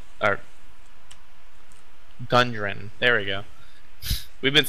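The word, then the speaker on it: Gundren: around town trying to find leads on where grunden our gun durin there we go we've been saying it wrong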